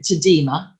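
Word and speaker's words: Alma-Tadema: self-promotion and I know some people want to pronounce it tadema but he's Dutch so I am going for the more straightforward Alma tader and we also have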